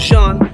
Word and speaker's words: Jean: My name is Sean, spelled like. If you don't know that, you must be new, and welcome. If you already know that, then way to go. Either you speak French or you've been here.